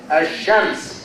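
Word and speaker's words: الشمس: We have ash-shams. The L is silent. Ash-shams. The L here is silent.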